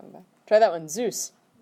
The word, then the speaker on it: süß: Zeus. Like the god.